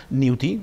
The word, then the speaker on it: Newty: l'estem aconseguint, de moment la gent ja el sap pronunciar, Newty, ja no és Newte, sinó és Newty, i això és molt important, i a partir d'aquí...